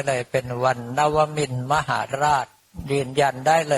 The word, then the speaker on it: นวมินทร: เป็น วัน นวมิน มหาราช อ่าน ว่า นวมิน เลย นะ ตรง ๆ เลย เนื่อง เพราะ ว่า หลัก